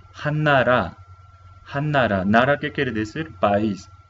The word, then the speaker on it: 한나라: Pronunciamos Hannara.